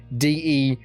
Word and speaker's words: decal: Just being DECLE is almost how they're pronouncing it, just like completely getting rid of the A.